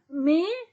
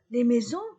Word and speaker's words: mes: Maintenant, féminin pluriel, les maisons, mes maisons. Mon, ma, pluriel, mes. Ton, ta, pluriel, tes. Son, sa, pluriel, c'est. Mes maisons, tes maisons, ces maisons. Et je ne prononce pas la lettre S.